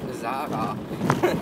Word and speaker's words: Sarah: You want to know how you say her name in German? It's Zara.